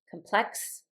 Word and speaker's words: complex: Whenever we have a noun and a verb that are the same word like complex and complex the the verb is going to have the accent on the second syllable and the noun will have the accent on the first the first syllable.